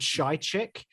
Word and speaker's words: Psychic: So the album's called Shy Chick, but it's spelled like the word psychic, but with an H after the S. So Shy Chick.